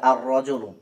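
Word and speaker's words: الرجل: না শুধু লেখায় আসছে এরপর দেখেন রজুন এখন যদি আমি আলিফ লাম প্লাস রজুন একসাথে করি তাহলে হয়ে যাবে আরজুন এখানে দেখেন লামটা বাদ পড়ে যাচ্ছে এরপর দেখেন জাহরাতুন আলিফ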